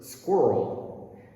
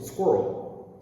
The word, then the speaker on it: squirrel: earl girl and her squirrel and believe it or not most english-speaking people pronounce this as just one syllable squirrel squirrel i don't know